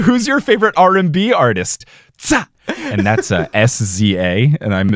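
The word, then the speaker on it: SZA: Tsa. And that's S-Z-A, and I'm assuming that's how you pronounce her name.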